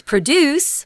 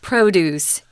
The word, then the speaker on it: produce: can grow common produce you might look at that and think it's produce but it's not it's a noun produce sorry about that and notice that the um the the stronger accent the stronger syllable is on pro so produce is something